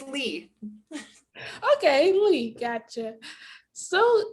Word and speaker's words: Leigh: privilege of speaking with lee lay i i may have mispronounced your last name i am so sorry thank you for joining me today thank you for having me dan and it's lee okay we got you